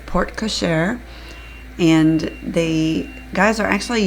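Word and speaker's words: porte-cochère: and yes I know I always say it poret but that's because I'm from the south so sorry sometimes will slip up and not say it correctly but it is port koser and the guys are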